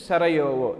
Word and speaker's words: Sarajevo: Actually spelling is J-E-U-O, the pronunciation is Sarajevo.